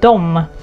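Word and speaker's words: dem: them do here again we pronounce the object form as do as well the same as the subject form but the spelling is different we spell it as d m d m do and then one people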